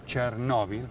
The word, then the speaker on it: Chernóbil: de las consecuencias del desastre de chernóbil así se pronuncia si se acentúa tiene que ver con